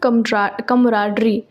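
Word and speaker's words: camaraderie: Next word है हमारे पास कमराडरी। कमराडरी इसका प्रोनाउंसिएशन, इसका मतलब होता है मित्रता रखना, किसी से फ्रेंडशिप रखना, किसी के साथ बहुत अच्छा व्यवहार रखना।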